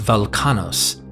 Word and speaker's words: Velchanos: As Velchanos, pronounced Velkanos, is potentially a dialectical version of the Sanskrit Balakana, Velkanos is actually a later Greek pronunciation of the original Minoan.